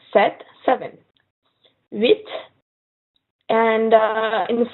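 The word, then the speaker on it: sept: set the PA filin so you only pronounce the T set seven this and in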